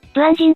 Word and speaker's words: 短今: 短い今と書いて、ブアンジンと読むのですね。